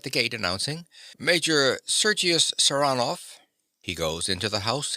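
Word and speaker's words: Saranoff: him round this way he pronounces the name with a stress on the second syllable saranov nicola yes sir he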